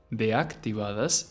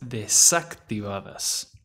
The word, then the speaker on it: desactivadas: It's not deactivadas, it's desactivadas.